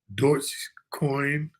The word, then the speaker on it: Dogecoin: And the Elon Musk dog coin, or actually pronounced Dogecoin, it's still just rolling along at 10 cents.